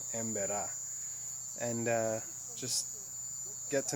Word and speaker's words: Emberá: with the emba and actually it's emba I've been saying it wrong emba and uh just get